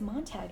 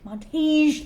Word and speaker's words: Montage: Beauregard I don't think it's Montag in the end, is it? Montage. Thank you. Okay, just starting again. resume. So it's about this guy, Beauregard, affectionately nicknamed Bug Montage, and he is just kind of your working man.